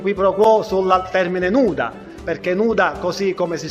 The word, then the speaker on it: nuda: pro quo sul termine nuda, perché nuda, così come si scrive in lingua italiana, si scrive anche in lingua siciliana, anche se poi nella pronuncia quella D diventa R per il rotacismo, però in realtà direi